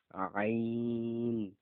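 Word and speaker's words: عين: প আইন আইন আইন। এখানে কিন্তু গলাতে চাপ দিয়ে উচ্চারণ করতে হবে।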